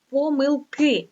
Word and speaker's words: помилки: читання завдання помилка і помилки дивіться в слові помилки наголос іде тільки на останню голосну літеру И помилки не можуть бути